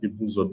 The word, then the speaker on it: Ibusa: We pronounce it Ibuzo because we know where we are from, even though the spelling is different.